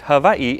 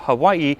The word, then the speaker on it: Hawaiʻi: And it is pronounced Hawaii instead of Hawaii, but you'll often hear both pronunciations.